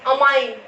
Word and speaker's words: amine: अगर आपका NH2 एज a functional group है तो इसको अपन बोलते हैं, स्पेलिंग में डिफरेंस देखो, AMINE अमाइन, ठीक है।